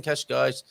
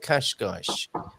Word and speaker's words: Cascais: um and speaking of kashgash i read somewhere it's pronounced cash guys that's one way of remembering it isn't it okay you